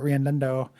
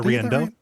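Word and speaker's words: Riendeau: Uh, this game has been called by some I know Randundo. Uh, I I I mispronounced your last name, right? Uh, Riendo.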